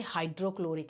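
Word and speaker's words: hydrochloric: होगा तो बात करेंगे हाइड्रोक्लोरिक एसिड क्या बोलेंगे इसको देखो इसको कैसे बोलेंगे हाइड्रो ये क्लोरिक acid H is silent हाइड्रोक्लोरिक एच लिखना नहीं भूलना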